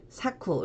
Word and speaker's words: 昨: 어제 후 운동은 없구요 작으로 발음을 할 때에는 사쿠 로 읽어 주시면 됩니다 자 그런데 이 작자는